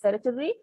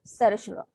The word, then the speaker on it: certiorari: Then the right of, so the writ of, so this word is either pronounced as certiorari or certiorari.